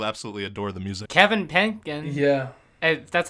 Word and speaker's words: Penkin: Kevin Penkin. Yeah. That's how you pronounce his last name, but his score is, I think, the best anime score of the year.